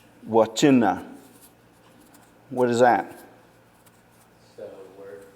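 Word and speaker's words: Wvcenv: So the syllable breaks is it would be WV syllable, CE syllable, NV. Or some people will put CEN as one syllable and then V by itself. It really doesn't matter. So we go wa, and then chin or chi, and then na. Wachina.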